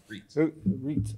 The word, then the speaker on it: Reitz: Reitz. I'm sorry. Oh, I'm sorry. We changed the original German at some point in my family's history. Did you really? Because it normally is pronounced E-I, is right, yeah.